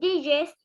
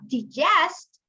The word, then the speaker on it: digest: So we have haste, and this word we have two ways to pronounce this word. We have digest and digest.